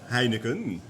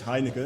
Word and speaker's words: Heineken: Heineken. You do say Heineken? Yes, Heineken. Because I wondered whether you pronounce the N at the end or not.